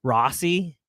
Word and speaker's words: Rocci: I'm going to say Don Rocci because, he told everybody to pronounce his last name is Rossi, but I don't know, man. The way how it's spelled, I'm just like, I think it's Rocci.